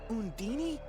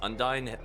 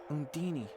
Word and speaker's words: Undine: Yeah, he's saying it like it rhymes with Houdini. Oh, like, I'm pretty sure that's not how you say that at all.